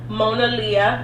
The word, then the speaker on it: Monaleo: Twitter a couple of days ago the rapper Mona Lia which I just found out how to say